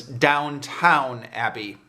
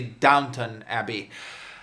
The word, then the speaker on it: Downton Abbey: review because i have a long history of mispronouncing the name of this show as downtown abbey but it's actually downtown abbey probably going to slip into saying downtown abbey